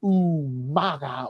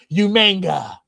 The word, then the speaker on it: Umaga: with the man himself, John Cena versus Umaga, or as Will Rodriguez would say, Umanga. Umanga. Umanga. Did he really say that? He did. He like also unironically, like he just couldn't say it right.